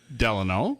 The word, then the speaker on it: Delano: don't know mark stone yeah you hail from Delano yes I love that you pronounced it correctly it's not delay no no it's della yes baby deli yes and then you so